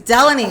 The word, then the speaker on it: Deloni: He's like, "I take Delani." I said, "My name's Delanie."